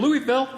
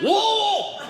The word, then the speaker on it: Louisville: "It's pronounced wool!" Wool! And it was not a polite, like, "Hey, why don't you try it this way?" It was a very angry, "It's wool!"